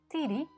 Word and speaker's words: tidi: using the tongue with this little word tidi the accent falls on the last syllable the d is short and the is long the d must therefore always